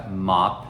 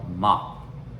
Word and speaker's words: mop: Então a pronúncia fica mop. Lembra que eu falei lá do outro vídeo também, que não é um som de A, mas é um som meio que aberto. Então mop.